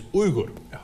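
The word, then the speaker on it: Uygur: Look, my name Uyghur is actually not pronounced Uyghur. In Turkish, it's Uyghur.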